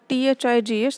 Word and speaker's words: thighs: sound, tin, tin, and thighs, thigh. So I'm saying th, not t. Not ta is not correct. Thighs is correct.